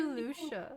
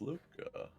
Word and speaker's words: Luca: you to help me where's dear lucia where did she go luca right no i've just been saying it wrong the whole time it's fine it's luca um i need to